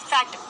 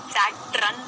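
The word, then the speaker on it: Saturn: सैटन, सैटरन नहीं है, अगर सैटरन बोल देते तो बेटा स्पेलिंग SATRUN हो जाती, सैटरन, तो स्पेलिंग तो नहीं है।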